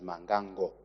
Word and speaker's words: Mbangango: Speaker, and I appreciate that you are pronouncing it correctly as Mangango, because these Tonga MPs started laughing at my constituents because of the earlier mispronouncement.